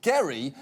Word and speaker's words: Gerry: wrong to notice that the jerry in gerrymander refers to a guy whose name was actually pronounced gary because literally everything about